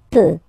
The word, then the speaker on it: peut: Then il, elle peut. So you will put T at the end, you don't pronounce it.